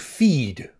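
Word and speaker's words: Theed: name adamson's Nemesis and he's called feed t h e a d I can't pronounce my t h is so it sounds like feed but it's feed feed I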